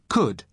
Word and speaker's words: could: to the pronunciation could could you spell it c-o-u-l-d but the letter L is silent could now listen to